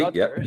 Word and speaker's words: Rutgers: I don't know if I pronounced that correctly. Rutgers University. Rutgers.